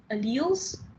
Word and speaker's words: allele: Genotype is alleles possessed by organism. I'm trying to pronounce alleles right.